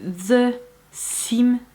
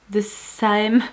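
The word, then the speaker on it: The Saem: Concealer de la marque The Sim. De Saem. Bon sang, mais vous avez été plusieurs à me dire ça se prononce comme ça et j'ai déjà oublié.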